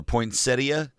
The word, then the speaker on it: poinsettia: It is poinsetta day or poinsettia depending on how you pronounce it.